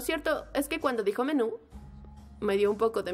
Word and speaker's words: menú: dice menudo menjo bueno la pronunciación correcta es menú pero no lo digas